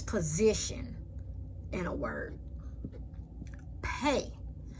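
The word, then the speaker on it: פ: Pei. Pei also have two characters looking exactly the same. One is without a dot, pronounced like a F. as in fox. Pay with a dot, pronounced like a pear.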